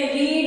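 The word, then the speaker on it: read: यहां तीनों एक ही स्पेलिंग लिखी जाएगी, प्रोनाउंसिएशन में हम इसे चेंज करेंगे, रीड, रेड, रेड, रीडिंग।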